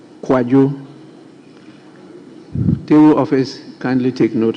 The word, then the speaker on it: Kwadwo: His Kojo is spelled KWADWO, not KOJO. Thank you, Right Honourable Speaker. So his is Kwajo. Kwajo.